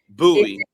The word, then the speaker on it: Bowie: Sports and Bowie TV yes yes absolutely and buoy TV I know for people who are not here buoy my bad my my apologies nobody outside of